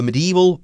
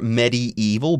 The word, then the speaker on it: medieval: gained importance during the medieval period now this could be medieval or Metis evil both pronunciations are okay but the spelling is